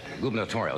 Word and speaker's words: gubernatorial: But I guess the big race for the Democratic gubernatorial, is that the way you pronounce it?